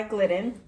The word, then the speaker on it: Glidden: silver silver reflection by is it glitten is it pronounced glitten yeah silver reflection by glidden it's their grab and